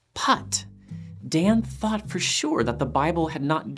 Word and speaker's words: Put: Abraham's servant a name putt p-u-t apparently pronounced like the golf stroke get it putt Dan thought for sure that the Bible had not given the servant a name in Genesis 24.